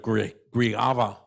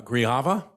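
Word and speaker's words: Grijalva: that video from representative grieva i never say it right i apologize uh grijava oh yes i got it okay uh who wanted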